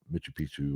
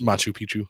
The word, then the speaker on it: Machu Picchu: But you know even some of the cutings you know I think it's uh Mitu Picchu or whatever it's called. I pronounced Machu Picchu.